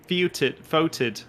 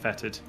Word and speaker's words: foetid: Foetid stench, not fetid.